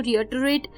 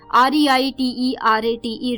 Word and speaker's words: reiterate: थोड़ी सी प्रोनाउंसिएशन अटपटी सी है, इसलिए मैंने बार बार एक बार रिपीट भी की है.